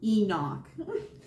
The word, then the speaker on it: Imbolc: So our next season that we have coming up is, well, it's spelled IMBOLC, but it's pronounced Enoch.